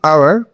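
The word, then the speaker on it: hour: তো এখানে আমরা দেখতে পাচ্ছি আওয়ার, এখানে এইচ যেই কনসোনেন্ট আছে সেটির উচ্চারণ কিন্তু আমরা হাওয়ার করছি না, অর্থাৎ এইচ এর উচ্চারণ এখানে সাইলেন্ট থেকে যাচ্ছে, হয়ে যাচ্ছে আওয়ার, অর্থাৎ এ যে সাউন্ড আছে ভাওয়েল তার মতো উচ্চারণ হচ্ছে।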